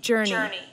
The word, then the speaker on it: journey: Các bạn sẽ phát âm là Journey. Jo sẽ là âm nhấn mạnh nhất.